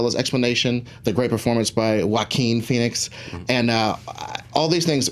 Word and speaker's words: Joaquin: And this new fact check that pronunciation, please. The Joker, Joaquin. It's Joaquin.